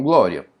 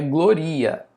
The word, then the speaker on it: glória: Então, glória, vamos separar a palavra glória. Glória Não é gloria.